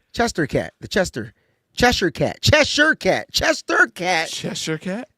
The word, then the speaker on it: Cheshire: All right, so I Googled it, and it's spelled Cheshire. Yes. But it's Cheshire.